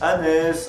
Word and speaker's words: Hannes: Justement dans la vidéo de Ritech, ils disent Hans. Hans, Dieu merci! Du coup, j'ai eu le sentiment que ça allait être la merde si je ne précisais rien, si je pensais que c'était évident pour tout le monde. Donc à Maxime notamment, je lui ai dit « Tiens, on prononce Hannes, Hansi ».